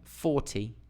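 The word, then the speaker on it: forty: that helps with meaning similarly compare 40 and 14 okay a lot of my students get confused have problems with defining 14 and 40 okay it's Dum d d dum dum D 40 14 D Dum 14 D dum dum d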